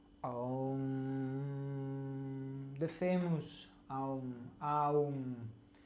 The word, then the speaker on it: Om: comes out a sound, Aum, the famous Aum, Aum. We write it O-M, Om. We pronounce it as Aum, 3 letters.